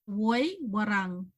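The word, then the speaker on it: Woiwurrung: Woi Warang. So you have to roll your R's. Warang. Wee Warang.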